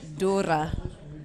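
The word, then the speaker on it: D'Hoore: I spoke to Jolien D'Or, and it's I have been corrected on my pronunciation. So Jolien D'Or.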